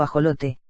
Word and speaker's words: axolote: en declive más información e laxo lote mexicano pronunciado ajolote es una salamandra con